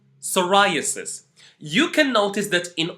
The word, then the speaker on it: psoriasis: then play the video I am going to pronounce them for you psychology pseudo P psoriasis once more psychology pseudo P psoriasis you can notice that in all these words